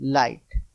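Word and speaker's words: light: रहे हैं ना इसको क्या बोला जाता है लाइट ल आई जी एचटी लाइट अब देखिए एक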